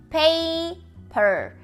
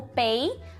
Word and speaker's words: paper: Então a gente tem ali o ditongo pay e o per com o chuazinho no final, o ponto final para separar ali as duas sílabas, o apóstrofo para dizer que a sílaba acentuada é a primeira, pay, e é isso.